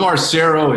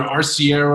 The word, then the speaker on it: Arciero: Sisson, did I pronounce that correct, sir? Okay, awesome. Yeah, no, I know. Look, I'm Arciero. It's either Arciero, I like it. Arciero.